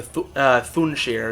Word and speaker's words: Thunshir: it is the month of Thunshir, or Thunshir is the better pronunciation.